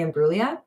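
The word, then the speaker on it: Imbruglia: Uh, Leave Me Alone by Natalie and Bruia. There's a G in there before the L. I don't think you're supposed to pronounce it.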